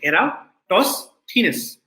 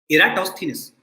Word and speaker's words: Eratosthenes: sieve of eratosthenes and this is how you pronounce the name you say era toss thinness okay eratosthenes so this thief alcohol